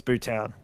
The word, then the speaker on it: Bhutan: Oh, um, Bhutan. Correct. It's Bhutan. I'm glad I'm glad you pronounced it that way because now I can.